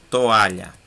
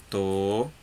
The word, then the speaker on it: toalha: Qual é a mais forte? A. E ela é paroxítona.